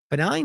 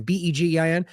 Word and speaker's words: Begin: It was also a longtime Likudniks from the Likud party from Netanyahu, such as lawmaker Benny, Begin, or was it Benign? How do you say that again? Begin.